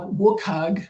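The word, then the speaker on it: WCAG: Then you have Wukag as it's strangely pronounced who have developed um they have guidelines that were developed to make digital content accessible to people with disabilities.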